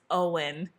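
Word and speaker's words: Óin: Glowin and I just like butchered all the pronunciations and then I listened to the audio book and I was like oh it's Owen Glowin.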